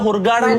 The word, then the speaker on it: Hurghada: غردقة.